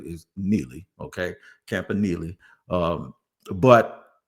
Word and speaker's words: Campanile: Campanile.